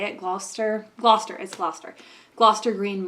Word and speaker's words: Gloucester: right on the corner like across from the glow Kester I don't know how to say it Gloucester Gloucester is Gloucester Gloucester Green Market so like